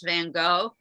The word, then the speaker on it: Van Gogh: pronunciation from my understanding the dutch pronunciation is very guttural you pronounce the gh at the end of his name way back in the back of your throat it's easier the the